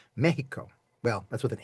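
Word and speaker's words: México: Mexico, M-E-X, the letter X in Spanish generally, some drift on this, generally gets the shh sound. So it's not Mexico, it's Mexico.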